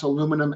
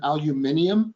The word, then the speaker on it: aluminium: then I think um some English-speaking countries um pronounce aluminum aluminium so we're talking about the same thing there but alumina is not